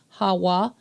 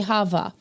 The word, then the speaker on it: Hawa: pronounce her name as Hawa. I know it sounds crazy, but that is how it would have been pronounced in ancient times. In modern Hebrew, they say Hava.